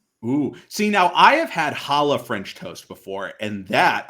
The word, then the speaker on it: challah: good that's very pronounced you gotta say it like you're coughing up a hairball challah barbra streisand no i